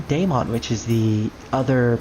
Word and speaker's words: Daemon: And in the English version, they actually do call him Daemon, which is the other pronunciation for demons, which is D-A-E-M-O-N.